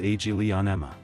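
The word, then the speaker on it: Aglaonema: time is called agena in English pronounced AG Leon Emma according to Patrice Leo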